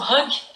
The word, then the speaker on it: hygge: E uma das coisas que justifica muito essa felicidade do povo dinamarquês é a vivência do hygge, né? Na pronúncia deles, o hug, mas para nós, hygge, que é uma filosofia